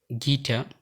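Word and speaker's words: guitar: এই শব্দগুলোর ইউ সবসময় সাইলেন্ট থাকে, যেমন guest, গ্যাজ, গিটার, গার্ড, building, গিলটি, রগ, ভগ, বিস্কিট, টাং।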